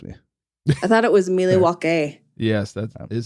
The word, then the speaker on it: Milwaukee: have to trust me I thought it was milwa yes that is how it's actually it's pronounced milwa speaking just had that oh you got to